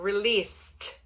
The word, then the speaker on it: released: O filme será lançado, released. De novo, o ED, ele vem com som de T.